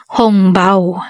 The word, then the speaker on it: hongbao: paw at tinatawag ding hongbao ang salitang angpao ay isang hokian language pronunciation para sa sa Red Pocket ang hongbao naman ay pronunciation para sa Red Pocket na salitang Mandarin at ang lcy naman